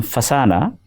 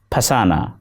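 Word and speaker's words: فسانہ: When the female Urdu name Fasana, which means story, is pronounced with a pa, it sounds very much like pasana, meaning to trap someone.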